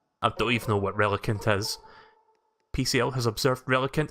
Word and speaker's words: Relicanth: I'm assuming the H is silent now, so it's Relicanth, otherwise Relicanth sounds weird.